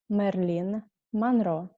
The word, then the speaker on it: Мерлин Монро: Это Мерлин Монро. I know that in English you pronounce her name totally different, but I will pronounce how we say it in Russian language.